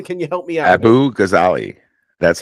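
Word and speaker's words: Abughazaleh: Abu Ghazali. That's how you pronounce it. Abughaz, as in zebra, Aleh. Abu Ghazali, or Ghazale.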